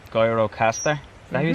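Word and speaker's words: Gjirokastër: next spot we're going to a place called guyrocaster is that who you say that's how you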